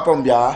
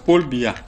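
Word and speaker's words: Paul Biya: Ce n'est pas Pombia. C'est Paul Bia.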